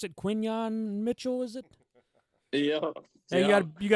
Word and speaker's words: Quinyon Mitchell: How do you pronounce it? Quinyon Mitchell, is it?